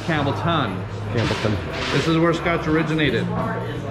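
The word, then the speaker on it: Campbeltown: isla agus atá cosúil le Campbelltown it is pronounced campbellton this is where Scotch originated there are very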